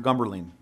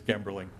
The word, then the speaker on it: Gemberling: It really is Gemberling. It's pronounced the way it looks. Sir, duly noted. Okay, thank you. You're not even close to how bad it can be sometimes. I think my favorite was Gumperdink.